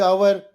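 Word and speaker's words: hour: ಎಚ್ ಅನ್ನೋದು ವ್ಯಂಜನಾಕ್ಷರ ದಿ ಎಚ್ ಓ ಯು ಆರ್ ಅಂದ್ರೆ ದಿ ಅವರ್ ಇಲ್ಲಿ ಎಚ್ ಸೈಲೆಂಟ್ ಆಗಿದೆ ಎಚ್ ಸೈಲೆಂಟ್ ಆಗಿದೆ ಹಾಗಾಗಿ ಇದು ಸ್ವರದ ಧ್ವನಿಯಿಂದಲೇ ಆರಂಭವಾಗುತ್ತದೆ ಸ್ವರದ ಧ್ವನಿ ಅಂದ್ರೆ ಎಚ್ ಸೈಲೆಂಟ್ ಇರುವ ಕಾರಣ ಓ ಯು ಆರ್ ಇದರ ಉಚ್ಚಾರ ಅಷ್ಟೇ ಆಗ್ತದೆ ಅಂದ್ರೆ ಇದು ಅವರ್ ಆಗ್ತದೆ ಅವರ್ ಅವರ್ ಅಲ್ಲ ಅವರ್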